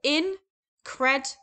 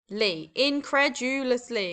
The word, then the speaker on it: incredulously: Okay, now this has five syllables. So incredulously. Incredulously. Incredulously. Okay, five syllables.